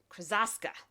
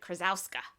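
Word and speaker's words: Krosoczka: Hey Kiddo by Jarrett Krasaska. He has a little video on how to say his name, and I had to think of it, but Jarrett Krasowska.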